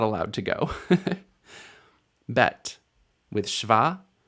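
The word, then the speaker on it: שווא: sound it makes but the simplest way to learn the sound that shva makes is to say its name shva shv right this vowel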